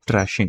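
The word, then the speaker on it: thrashing: वाले पूरे सर्कल में जिसको बोलते हैं ट्रैशिंग। ट्रेशिंग बोलते हैं कुछ लोग। कुछ लोग ट्रैशिंग बोलते हैं मतलब स्पेलिंग वही है अपनी टी एच आर एस एच।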